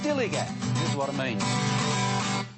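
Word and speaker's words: DILLIGAF: to their attitude too in a word Dilly that's spelled D i l l i g a f Dilly Gat this is what it means do I look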